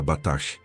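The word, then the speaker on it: בטח: A palavra em hebraico é batash, que se pronuncia batash, e significa estar seguro, confiante, protegido como em uma fortaleza inexpugnável.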